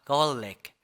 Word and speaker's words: garlic: 그랬을 때 어떤 발음이 나냐면 갈릭이 아니라 garlic, garlic. garlic, garlic, garlic, garlic 이런 소리가 납니다.